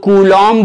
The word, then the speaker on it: कूलॉम: क्या होता है गुलाम अगर इंग्लिश में लिखोगे तो भी साइलेंट होता है इसीलिए कई लोग कूलॉम बोलते हैं लेकिन वो तक